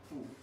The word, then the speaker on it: Kuf: Kuf. Some people might put Q-U-O-O-F. It really doesn't matter. Like Akumlea, he writes it with a A-Q-U.